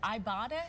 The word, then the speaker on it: Ibotta: Is it Ibotta? Is that how yes, it's pronounced? Yes, like Ibotta something. Ibotta.